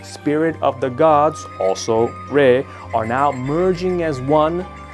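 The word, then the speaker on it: 礼: Number four, the bow called Re has the same pronunciation with Re, which means spirit, and with Re, which means zero.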